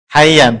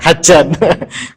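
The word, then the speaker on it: حيا: Ya, berarti ini hayyan bukan hajan. Kalau hajan nanti haji ya.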